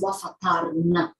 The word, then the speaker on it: Wafa' Tarnowska: It's Wafa Tarnowska, just 3 syllables.